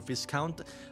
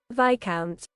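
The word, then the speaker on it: Viscount: Google the pronunciation for fisc count. I know it's uh it's different. I know that. But but I chose to say this count to uh rage bait people. V count.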